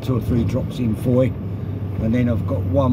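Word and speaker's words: Fowey: today I'm down in a place called Foy it's spelled f-o-w-e-y I'm actually down in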